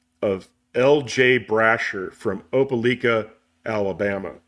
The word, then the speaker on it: Opelika: Brasher from Opelika, Alabama. Opelika. Opelika, Opelika. You say tomato, I say tomato. How dare you mispronounce something from Alabama.